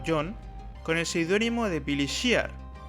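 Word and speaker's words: Billy Shears: con el seudónimo de Billy Shear, que se pronuncia casi igual que Billy's Here.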